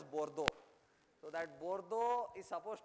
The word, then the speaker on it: Bordeaux: I mean, however, I'll spell it the French way, but I mean, I-B-O-R-D-E-U-X, Bordeaux or something they call it, okay. French, you don't know how you spell it, how they write and what they talk. So they said, they call that town as Bordeaux.